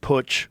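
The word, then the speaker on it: Putsch: uh the White House push. How do you is that push? Push. You said it right cuz it's a German word cuz they they had pushes in Germany.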